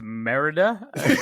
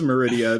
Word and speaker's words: Merida: Pat, I believe it's Merida. Yeah. If it was Meridia, then I would be thinking of a different movie, and I might be totally wrong.